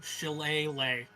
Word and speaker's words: shillelagh: Just type in, if you need to do it phonetically, SHIL space AY space LAY. Shillelagh.